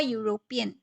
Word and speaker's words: European: another example a european the first letter is e but remember we are not going by the letter but we are going by the sound and the sound it gives is you a european u and u is a consonant so we have to use uh a european if you had gone